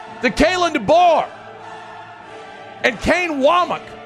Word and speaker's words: Wac: kayin dbor and Kane wak it's spelled wac but he says wak cuz that's what we do in the South and said hey you